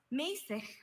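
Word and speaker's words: mässig: Mäßig. Mäßig. Mäßig. Can I have the language of origin, please? Mäßig is from German. May I have a definition, please? Mäßig means moderate in tempo, used as a direction in music.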